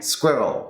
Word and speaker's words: squirrel: Squirrel. Yes, squirrel. Squirrel. So you want to think of it as Squirrel. one sound, one syllable.